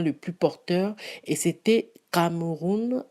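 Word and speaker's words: Kamerun: plus porteur et c'était cameroun avec cas donc à à m e r us n est donc qu homme comme s'est prononcé en allemand et quand j'ai reçu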